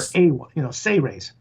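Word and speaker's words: Seyrehs: It's actually pronounced Sey-Rays, as if it was spelled S-E-Y-R-E-H-S, or Sey-Rays. Sey-Rays, okay. So instead of Sea-Ray, like the boat, we'll call them Sey-Rays. Yeah, I like that. It's not series like the World Series, it's Sey-Rays.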